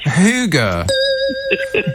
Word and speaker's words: hygge: not running out of hygge are you oh that's danish no i think it's swedish and it's pronounced hygge you're getting everything wrong